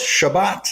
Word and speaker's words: Chebat: engage i am ready let's do this chabat that's the correct pronunciation is that decent at least uh it's close shabbat is shabbat yes okay that makes sense